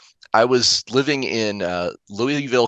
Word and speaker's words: Louisville: was living in uh Louisville Kentucky um and you guys might call it Lewisville the way it's spelled um Lewisville Kentucky and